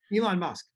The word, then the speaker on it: Elon Musk: it Ellen dusk how do you say Ella Elon Musk Elon Musk Elon Musk uh you know is